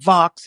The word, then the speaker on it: Vaux: I called it Vaux, but Vox is the pronunciation.